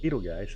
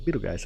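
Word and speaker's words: Betelgeuse: So, the correct way to saying Beetle guys is Beetlegeist.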